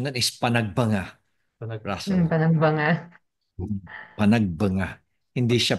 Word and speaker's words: Panagbenga: ahal das Marias ung ah Alam mo ang pronunciation non is panagbangga Panag Panag banga Panag banga hindi siya Panagbenga kundi Panag banga Panag banga means it's the